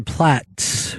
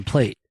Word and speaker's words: Platt: But we just had some big stars here, and a little later on, Oliver Platt, who Chris said Oliver Plate is coming in. And it's not spelled like plate.